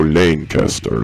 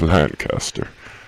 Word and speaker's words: Lancaster: with that sometimes but they always keep saying you know lane caster lane kester it's lancaster okay well i have